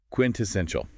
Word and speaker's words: quintessential: Quintessential. 4 syllables. Stress on the third.